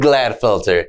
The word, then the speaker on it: Gladfelter: enjoy the interview David glad filter is how you say your last name yeah what were your thoughts